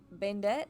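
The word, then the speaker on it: Bandette: decks and trees like Bandit is that what it's how it's pronounced it's spelled b-a-n-d-e-t-t-e Bandit I'm pretty sure is what that's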